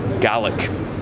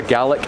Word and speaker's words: Gaelic: I've been saying it wrong all my life. I thought it was Gaelic. Gaelic's Irish. Oh. So for Ireland it's Gaelic, for Scotland it's Gaelic. That's the way you pronounce it differently. Annoyingly, they're spelt the same.